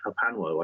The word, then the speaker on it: HPANWO: But yeah, if you just put HPANWO into your browser of choice, that is Hapanwo, I pronounce it.